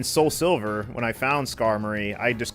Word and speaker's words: Skarmory: a different name and I pronounced it wrong, but it sounded like it fit to me. It was actually Skarmory. I actually used to call Skarmory Skymori, so that was the